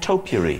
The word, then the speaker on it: topiary: you pronounce the word topiary. Topiary. Did anybody notice he went topiary? It was like a wonderful mixture of trimming a hedge and a little bowl you have of things that smell nice.